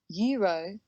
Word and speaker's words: euro: For example, euro. It begins with an E, so normally we would use an euro. This is incorrect. Euro, although it begins with E, sounds like y, euro.